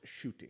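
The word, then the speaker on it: Ncuti: It's pronounced Shooty.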